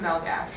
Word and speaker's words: Malagasy: It looks like Malagasy, but they never pronounced the Y, and they always switched up the Y with an SH noise. So it was pronounced Malagash.